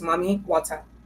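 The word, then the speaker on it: Mami Wata: the other mommyz okay that's spelled m a m i w a t a two separate words mommy wat and I am warning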